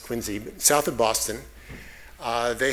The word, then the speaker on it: Quincy: example from Quincy Massachusetts I don't know why it's pronounced Quincy south of Boston uh